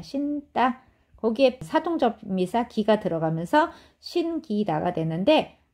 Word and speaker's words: 신기다: 거기에 사동전미사 기가 들어가면서 신기다가 되는데 끼로 발음하지 않는다는 거예요. 신기다. 신기다. 신기다 이렇게 발음을 하는 거고 자 요거 기억하시면 되겠습니다.